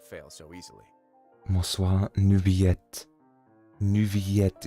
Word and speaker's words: Neuvillette: Neuvillette ist die original französische Aussprache.